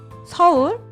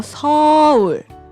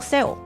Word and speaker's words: 서울: 서울도 가고 서울 pronunciamos como 서울. Não seu. 서울. Relaxa seu boca.